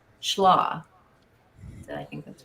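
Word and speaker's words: Schlage: Um, so Jeff 21 said the in when we talking about the schllo, so it says the e is silent. So that's how most say it. Schlaw. Schlaw.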